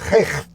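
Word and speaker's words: Rhuallt: It's spelt R-H-U-A-L-T, U-A-L-L-T, so it's Recht. It sounds like react, but with Recht Country Park.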